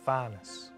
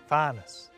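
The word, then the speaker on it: fànas: Up there, beyond the clouds, there's Fanus. Space. Fanus. See that wee accent on the A? That makes the vowel long. Fanus.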